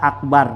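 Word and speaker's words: أكبر: Nah, wasaminu dan yang ke-8, la tusaddiduhu, jangan kamu tasudduhu, jangan tasdidkan. Ai ba akbar tuh, baknya akbar gitu ya, bar gitu.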